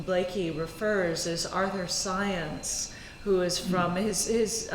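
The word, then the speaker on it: Zajonc: speakers to whom Blakey refers as are their science who is from is name is spelled z a.j ONC and so often people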